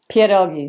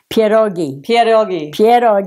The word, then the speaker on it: pierogi: Pierogis. Mm-hmm. Say it again. Pierogi. Am I saying it right? Yeah, you are. I am. You are. Pierogi.